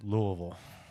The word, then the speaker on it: Louisville: we're doing a a live mock draft it's pronounced Louisville Louisville so I had my who you want